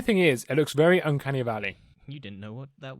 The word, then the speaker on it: Uncanny Valley: The only thing is, it looks very Uncanny Valley.